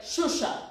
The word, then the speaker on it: Xuxa: don't know if okay so it's you you you speak like shusha okay I hope it's